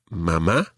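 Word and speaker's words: mamá: more likely to say mama mama and papa papa now just one other thing we mentioned accents already mama and papa both have accents on the last syllable normally spanish words are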